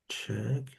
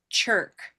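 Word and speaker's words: Czech: We need red. Check. I'll give you a hint. It's very close by. Purple. Purple shirt. No. Okay. That would be cher. Cher. Cher. This is check. Cherk. Check. Try moving down just one category. Silver pin. Okay, that would be chick. Like a baby chicken. Chick. Check. Chick. That's close.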